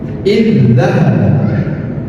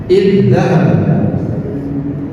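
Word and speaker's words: اذهب: seakan-akan ininya tidak ada zal yang pertama tidak ada jadi cara belajarnya adalah idzahab idzahab sama halnya contoh yang kedua bias dias Mana huruf yang sama?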